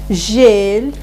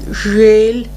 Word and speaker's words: жель: Пожалуйста, попрошу вас повторить за мной звук бель, жель, кель. Оборотное эль, эрик, киши. Попрошу прочитать, пожалуйста, эти слова правильно. Попробуйте. Бель, Да. жель, кель. Все нормально, только смягчать не бойтесь звук. Как будто стоит мягкий знак.